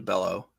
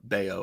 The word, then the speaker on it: Bello: guy or going all the way down to bellow or bayo as it's pronounced but i like bellow because it sounds